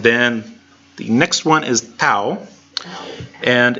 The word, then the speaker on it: tau: the next one is tau and it's fairly normal it sounds like the T and talk it's a normal T sound so it's a T